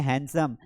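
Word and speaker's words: handsome: या यहाँ पर ये जो डी है ना, ये डी बेसिकली साइलेंट है, इसको पढ़ना ही नहीं है, ऐसा मान लेना है कि वो है ही नहीं, तो इसे पढ़ेंगे हैंडसम। यहाँ पर इनफ पढ़ते हैं, इनॉफ नहीं पढ़ते हैं।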